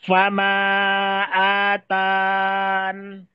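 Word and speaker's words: فما آتان: Jadi cara bacanya fama atan. Ya, tapi kalau di jalur Syatibiyah dia boleh menetapkan huruf ya. Maka bacanya fama atani. Itu bedanya.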